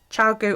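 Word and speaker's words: ChiaoGoo: do i recommend i recommend child go needles chow goo or nit picks i prefer chow goo but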